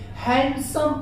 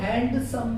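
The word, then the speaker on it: handsome: हैंडसम पढ़ते हैं, हैंडसम नहीं पढ़ा जाता, ये चीज आप ध्यान दीजिएगा।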